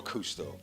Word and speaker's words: CousteauX: You know, I mean, look, the X on the end is, as I said, it was for the legal reasons. It's pronounced the same. We're Cousteau.